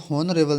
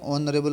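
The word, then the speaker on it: honourable: भर जाएगा नरेल है इसको होन रेबल नहीं पढ़ते कभी भी ठीक है ये क्या ऑन रेबल पढ़ते इसको इसमें एच जो होता है साइलेंट होता है ठीक है तो आपका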